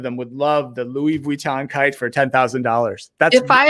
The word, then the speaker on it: Vuitton: How do you say Vuitton?